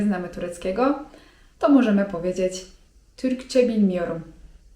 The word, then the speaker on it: Türkçe bilmiyorum: anlamadym) A z kolei jeżeli chcemy powiedzieć, że nie mówimy po turecku, nie znamy tureckiego to możemy powiedzieć: Türkçe bilmiyorum (czyt. türkcze bilmijorum) Kolejne ważne słówko przy tej okazji, które powinniście znać jeżeli wybieracie się do Turcji...